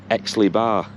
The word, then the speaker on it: Aix-les-Bains: it's in France, but I think it's pronounced something like Aix-les-Bains.